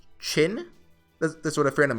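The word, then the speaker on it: Qin: on the Japanese service spelled q i n is pronounced chin that's what a friend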